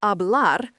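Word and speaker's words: hablar: The verb abl pronounced abl means to speak.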